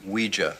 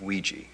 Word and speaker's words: Ouija: ouija what it's pronounced ouija not ouija it comes from the french and german words for yes and this is a